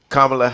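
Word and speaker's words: Kamala: do another four years now as far as kamla Harris is that how we pronouncing her name yeah okay as far as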